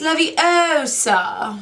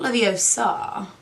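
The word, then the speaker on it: Leviosa: eye out classic besides you're saying it wrong it's love OA not love OA no wonder she hasn't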